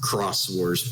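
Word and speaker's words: Xros Wars: i figured yeah yeah i'm almost certain it's supposed to be pronounced cross wars but whatever that's the thing you're right but i'm like saying it how it's spelled great because like if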